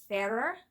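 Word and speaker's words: Farrar: by Janet and Stuart Ferrer, which I only just learned recently is how you say their last name. And once I was told that made total sense to me because they lived in Ireland.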